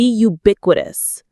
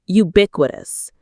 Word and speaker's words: ubiquitous: The principles of kindness, empathy, and respect for every individual must be ubiquitous. Let's learn this beautiful word ubiquitous. The stress is on the second syllable. Bick. Ubiquitous.